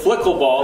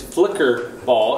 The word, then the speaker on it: flicker ball: as Nate put it, flickle ball. That's a typo. The correct pronunciation is flicker ball.